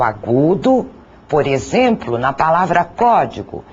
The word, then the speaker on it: código: Por exemplo, a palavra código. A intensidade maior é dada na sílaba có.